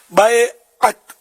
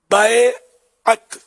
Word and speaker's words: بیعت: بیعت، بیعت نہیں، بیعت صحیح تلفظ ہے۔ بیعت کا لفظی معنی